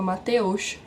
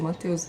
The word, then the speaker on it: Mateusz: Ou quando alguém chama Mateus, que é a pronúncia do nome do Mateus aqui, Mateus, dependendo da forma da situação, eles falam Mateusza.